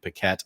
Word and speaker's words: Paquette: I've always pronounced it in my head as Yannick Paquette. I'm sorry if that's actually not the correct pronunciation. I think it's Yannick, but Paquette is right.